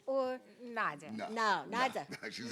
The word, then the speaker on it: Nadia: Her name is Nadia.